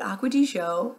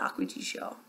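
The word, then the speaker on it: Acqua di Gioia: I call it Acqua di Gio. Like, that's how I pronounce it. But someone the other day said Acqua di Gaio because it's G-I-O-I-A.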